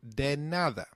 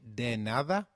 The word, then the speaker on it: de nada: or the reply to thank you translates to dead nada loosely meaning don't thank me for anything so can you try saying de nada it's called de nada very good let's now